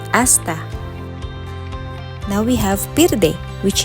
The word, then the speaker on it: hasta: It has the same spelling as the Spanish one, however, again, letter H is always silent, so they pronounce it as hasta.